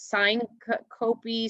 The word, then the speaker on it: syncope: And so the next one, Chief, I'll say it wrong. So it's syncope.